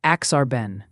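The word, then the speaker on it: Aksarben: And folks are wondering about the pronunciation, too. It's usually axarbon. Okay. Axarban. And it's Nebraska backwards. Axarbon. It's Nebraska spelled Axarban. Is that better? Exactly. It's Axarben.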